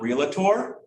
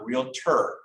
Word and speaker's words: realtor: it just practice that i really tore it guilt not realtor realtor real tour not real ter it's not an eater